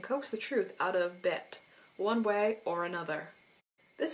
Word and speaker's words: Bête: All I know is from my many adventures of La Belle et la Bête that it's usually pronounced bête, but I might still end up saying beat because I am a native English speaker, and